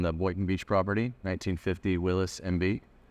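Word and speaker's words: Willys: got 1950 on the boy Beach property 1950 Willis MB it's w l y s it's really called Willis but Los Willis in Columbia because that's how you pronounce it and so that's why we're willly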